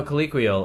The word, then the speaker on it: colloquial: ] collect will you also don't think you're pronouncing it right no colloquial it's like like or colloquial colloquial that's it it's like to speak in like